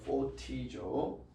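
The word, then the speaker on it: φωτίζω: 포티조. 자, 포티조. 포가 아니고 ph 발음을 합니다.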